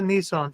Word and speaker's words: Nissan: Nissan. That's actually the way it's pronounced.